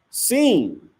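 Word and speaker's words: סין: It's pronounced seen. It's pronounced seen. So this isn't the same sin that you're thinking about. So it says Strong's H5512 is pronounced seen.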